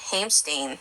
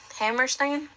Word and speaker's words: Hammerstein: of um Oklahoma, um Oscar Hamstein II, um there was Hammerstein. Yeah. Hammerstein. Hammerstein. Yeah. The second. Mhm. Oh, sorry. I said it wrong.